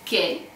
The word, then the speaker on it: che: Actually, if you want to say che, we will use the letter C and then the letter H and then E. So C, H, E, and it's pronounced che, which means what.